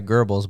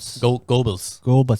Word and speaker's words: Goebbels: gibbles Goebbels gerbils Gobles people pronounce his name by gerbils but there's no R in there yeah Gobles I think it's Globus